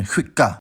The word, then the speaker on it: skicka: In addition, the cluster sk is pronounced [ɧ] in the same conditions, like in skicka.